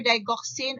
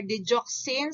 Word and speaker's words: digoxin: that is your atropine then you have your digoxin or digoxin so it can be pronounced either of the two digoxin or digoxin is